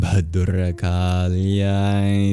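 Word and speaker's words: भद्रकाल्यै: It's breathy, it's an aspirated B. Ba, ba, ba.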